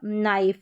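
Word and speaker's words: knife: फिर यहाँ है पाइप, राइप, स्वाइप और नाइफ। ये जो के एन है, ये यहाँ पर के जो है वो साइलेंट है, तो साइलेंट लेटर्स का जब रूल देखेंगे तो वहाँ पर भी आप ये सीखेंगे।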